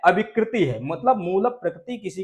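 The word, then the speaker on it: अविकृतिः: ठीक है, तो इसका उच्चारण होगा मूल प्रकृति ही अविकृति ही। इस रेप को विसर्ग हो जाएगा, आ निकलेगा, आ जाएगा इसमें, विकृति के साथ मिला देना, तो इसका उच्चारण करोगे अविकृति।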